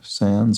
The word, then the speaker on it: sans: Sans or sans, depending on how French you're deciding to pronounce it.